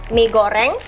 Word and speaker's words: mi goreng: So let's just go with your bog standard mi goreng. Say that again? Mi goreng. Mi goreng? Exactly. Yeah, that was pretty good. Nice. You gotta roll your R's with it.